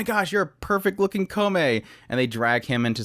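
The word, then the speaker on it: Kōmei: warring era uh following comey from this point on i'm going to be calling him comey because that's how they pronounce it in the anime kome and he is at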